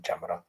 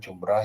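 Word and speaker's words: جمرة: Tadi itu bacanya jumrah ya, bukan jamrah. Kalau jamrah itu bara api.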